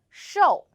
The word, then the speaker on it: 瘦: hello I'm Sunny the word of today is show in this video I will teach you how to pronounce it how to write it and how